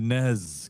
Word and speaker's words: NES: 1985 Nintendo NES controller. Or as the Brits say it, the NEZ controller.